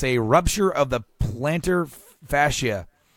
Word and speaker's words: fascia: rupture of the plantar fascia. Is that how you say it? Plantar fascia? Fascia, you had it right.